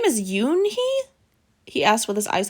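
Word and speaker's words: Unhei: joey she nodded slowly yes it's pronounced yoon hai and it means grace mr kim added yoon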